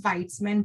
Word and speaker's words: Veytsman: me Dr and tell me how to pronounce that again my last name is Weitzman but like I said feel free to call